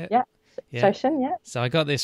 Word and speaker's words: shoshin: Shoshin, yeah.